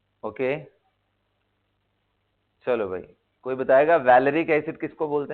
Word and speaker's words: valeric: Okay, चलो भाई, कोई बताएगा वैलेरिक एसिड किसको बोलते हैं। वैलेरिक acid, वैलेरिक, not vinylic, I am asking वैलेरिक।